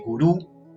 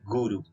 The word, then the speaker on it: guru: en español en español hoy en día podemos decir guru porque esta palabra ya ingreso a nuestro diccionario pero sin embargo en sánscrito se dice guru con acento en la primera detalles a tener en